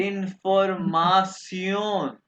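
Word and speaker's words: Information: इसको प्रोनाउंस करेंगे सियोन। कैसे? सियोन। तो क्या पढ़ेंगे? इंफॉर्मेशन, इंफॉर्मासियोन।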